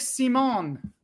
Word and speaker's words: Simon: Oh, it is Dominic Simon. Are we giving it an accent? No, that's how it's pronounced.